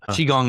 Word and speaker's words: qigong: So chiong is spelled q i g o n g olden chiong.